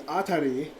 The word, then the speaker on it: Atri: I pronounced it now it's not RT because I thought it was a r TI was actually a r i so it's atar but a my dear